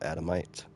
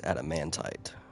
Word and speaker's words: adamantite: Orcs Orcs control the adomite not adomite Adamantite Adamantite yeah that's how it's pronounced what subject shall we